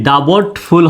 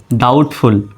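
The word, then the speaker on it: doubtful: এর উচ্চারণটা হবে না যেমন এখানে দেখেন ডাউটফুল বানান ডি ও ইউ বিটি ডাবটফুল হওয়ার কথা ছিল ডাবটফুল হওয়ার কথা ছিল কিন্তু হবে কি ডাউটফুল কারণ এখানে বিটি এর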